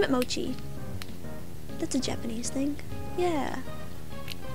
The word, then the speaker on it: mochi: I'll name it Mochi. That's a Japanese thing. Yeah. Is what a Japanese thing? Mochi. What? Mochi. What? It's a dessert. It's like M-O-C-H-I. Mochi.